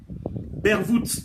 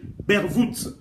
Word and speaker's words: Bervoet: Bervoet, je vais le prononcer en néerlandais parce que c'est en néerlandais. Bervoet.